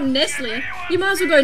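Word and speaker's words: Nestlé: Nestle. Yeah, Nestle. Really? Yeah, the proper way. We say Nestle. Why would you go Le? It's not French. Because that's what it is. It's not Nestle.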